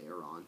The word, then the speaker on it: Aron: I think it's pronounced Aaron, because it's A-R-O-N.